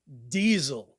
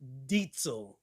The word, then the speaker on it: Diezel: The Diezel Herbert, and it is not pronounced Diezel. That is the American version of saying the name of the company, but it is the owner's last name, and it is Diezel. Diezel. Say it with me. Diezel. So whenever someone says, oh, I just got a Diezel, I'm like, did he just say Diezel? Dude, Diezel is spelled with an S. Yo, learn something about vehicles. It's not Diesel. It's Diezel.